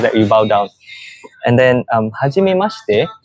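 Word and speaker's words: はじめまして: When you first meet someone, you say hajime mashite.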